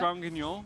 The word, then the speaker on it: Granguignol: How do you pronounce that? Grand Guignol.